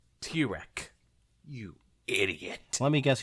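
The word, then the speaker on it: Tirek: It's at pronounced Tyrek.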